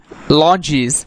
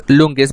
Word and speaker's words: lungis: Menin checked cheek, or see that Menin checked longis sitting at fishing nets. Now lungis, actually we understand it's lungis, but when it is in pronunciation of the British received pronunciation, it is uttered or pronounced as longi.